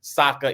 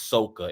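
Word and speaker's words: Sokka: Ang it was Ang it was not Saka it was SOA it was not iro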